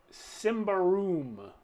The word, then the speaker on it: Symbaroum: we are playing tonight simba room which is how i believe it's pronounced and uh i watched several youtube videos from people who pronounced it that way so that's what we're